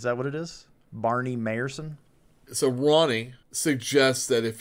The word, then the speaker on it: Mayerson: And also, the AI got his name wrong, and Barney Mayerson corrected him because he called him Mr. Bayerson. Like Bayerson he's like, or something. My name's yeah. Mayerson.